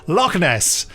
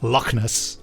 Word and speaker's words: Loch Ness: Loch Ness, pronounced with the appropriate inflection, of course. Loch Ness. Loch Ness, yes. Which is written here carefully, Locknuss.